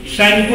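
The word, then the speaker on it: Tsangpo: सैंको river, T silent TSANGTO, ठीक है।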